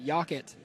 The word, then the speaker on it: Yockett: when pronouncing her name he said yakit like rocket so she's got that